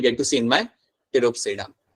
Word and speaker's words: टेरोप्सिडा: So this is माय टेरोप्सिडा, यहाँ पे पी मेरा यहाँ पे होगा साइलेंट, और ये जो मेरा यहाँ पे ग्रुप है इसमें आपको एग्जांपल मिल जाएगा समथिंग लाइक एडेंशियम।